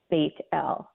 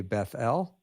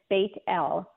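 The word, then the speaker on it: בית אל: and he called the name of the place baitel and in the Hebrew baitel means House of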